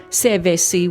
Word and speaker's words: Sevesi: call it Bill Sevesi, which is kind of like how you would say his surname Jeffs, but in a more island form. So Jeffs which is spelt with a J, it turns into an S, so they just called it like Sevesi instead of Jeffs.